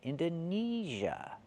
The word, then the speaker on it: Indonesia: We do not use the long A like day and say, we use the long E like green beans. Indonesia. Neezh, that's the stressed syllable.